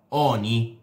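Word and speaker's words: Jony: anche per Johnny, che qualcuno mi ha detto che si pronuncia Oni. Vabbè, a me piace più Johnny, comunque anche per lui è fatta.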